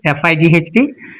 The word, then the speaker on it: fight: And it's I again can be seen here in this fi ght it's not fit it's not a fig it's fight so gh is silent next s i g